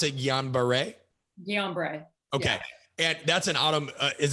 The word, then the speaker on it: Guillain-Barré: mom was diagnosed with, and how did you pronounce it? Guillain-Barré? Guillain-Barré.